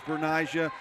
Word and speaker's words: Bernicia: But yes, it is actually listed on our pronunciation guide as Bernicia. We did get confirmation from the coach it's Bernicia, and Michael Westbrook said it's Bernicia.